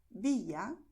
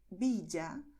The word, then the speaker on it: Villa: El primero es pronunciar con el sonido de la vocal I, es decir, Llanes, Villa, Yucatán, Cayo. Eso es totalmente correcto y se hace en muchas regiones donde se habla el español.